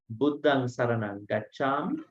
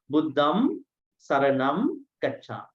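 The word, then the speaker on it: Buddhaṃ saraṇaṃ gacchāmi: Especially they check your nasals. So they say, Buddhang Saranang Gacchami, Buddham Saranam Gacchami, Dhammang Saranang Gacchami, Dhammam Saranam Gacchami.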